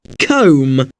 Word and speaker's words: comb: This MB pattern in which the final B is silent is quite common. Think of the words crumb, climb, and lamb.